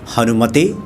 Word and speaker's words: हनुमते: तो आज जो हम बात करेंगे ओम हनुमते नमः या ओम हनुमंते नमः, आप दोनों का उच्चारण कर सकते हैं, क्योंकि बहुत सारे जो